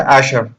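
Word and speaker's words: אַשְׁרֵי: de jehová bienaventurado es la palabra en hebreo a ser a ser se pronuncia a ser que significa una persona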